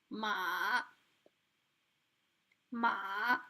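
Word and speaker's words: 马: is means horse and it's pronounced like ma ma so it means horse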